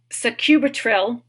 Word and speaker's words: sacubitril: the name of the drug has barttin and sacubitril which is spelled Soarin also with suub tril which is